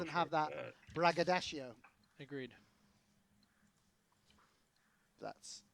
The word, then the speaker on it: braggadocio: braggadocio. agreed. That's how you pronounce that word.